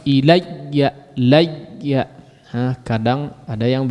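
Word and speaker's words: إليّ: Ilayya di sini bertasydid, huruf ya bertasydid ya. Jangan cuman pengucapan ya-nya saja secara ringan. Ilayya, ilayya ya. Jadi dihentak, coba ditekan sedikit. Ilayya, ilayya, ilayya. Nah, tapi tidak juga kemudian berlebihan sehingga ya-nya hilang ya. Atau suara ya-nya terputus.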